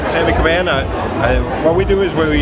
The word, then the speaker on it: Caban: Caban. Caban.